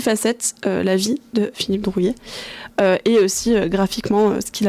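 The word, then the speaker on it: Druillet: Je prononce bien Drouillet? Oui, Drouillet, oui.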